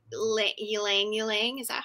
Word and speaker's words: ylang ylang: signature scent uh how do you say li ylang ylang is that how you say it it's it's pronounced langling but i love that she pronounces the the